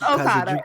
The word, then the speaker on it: Okada: It's Okada.